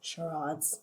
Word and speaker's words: charades: And charades in Regency times, or charades, as some people say, the more correct French pronunciation.